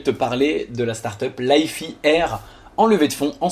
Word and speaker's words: Lify Air: Alors je t'avoue que moi instinctivement j'aurais dit Lifey Air, mais je viens de regarder cette courte vidéo et eux-mêmes ils prononcent Lifey Air, donc on va le faire très à l'américaine, you know, pas de problème.